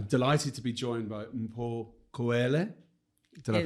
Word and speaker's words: Mpho Khoele: So, with no further ado, today's guest, I'm delighted to be joined by Mpho Khoele. Did I pronounce that right?